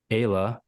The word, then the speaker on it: Ayla: You have a 13-year-old daughter named Lizzie, a 4-year-old Justise, and a 3-year-old Ayla, pronounced Kayla, you clarified here.